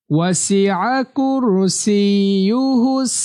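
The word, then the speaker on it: وسع كرسيه: এখানে খুব খেয়াল করবেন, এখানে একটু কঠিন মতো হয়, অনেকেরই উচ্চারণ সঠিক হয় না। ওয়াসিআ কুরসিয়ুহুস সিন ইয়াজের সি ইয়া পেশ ইউ, সিইউ, সিইউ হুস।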